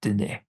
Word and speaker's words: Dene: It is just Dene. The name for the area is what I can't pronounce. It's Dene.